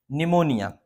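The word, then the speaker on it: pneumonia: अब देखेंगे इसमें पी साइलेंट रहता है, कैसा रहता है, पी साइलेंट रहता है। ये हम यहाँ से पढ़ते हैं निमोनिया, निमोनिया पढ़ेंगे ऐसा, निमोनिया। नहीं तो पता चला कि बच्चे पी निमोनिया पढ़ते हैं इसको, है ना।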